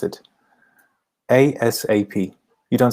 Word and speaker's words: ASAP: asap by the way this is how you pronounce it asap you don't say something else you just say asap um five i look into the matter urgently